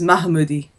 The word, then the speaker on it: Mahmoodi: um uh Derek kitchen his husband goes by m uh Moody but his name is mahmoodi yeah yeah and I